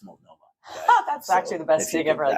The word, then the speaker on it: Multnomah: that's yeah, like, and they kept calling it Multnomah too, and I was like, it's Multnomah.